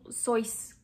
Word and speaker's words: Seuss: Seuss, mais en fait, ça se prononce Seuss, parce que c'est allemand en fait, c'était le nom de famille de sa mère.